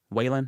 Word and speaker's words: Wallen: Whalen? How do you say it? Morgan Wallen.